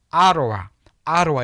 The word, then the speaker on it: Ottawa: 보통은 아로와 이렇게 읽어줍니다.